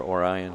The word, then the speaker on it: Orion: uh, Auburn Hill or Orion Hills, Oran Hills they pronounce it, or Orian Lake, Michigan, you know, and they've done a lot.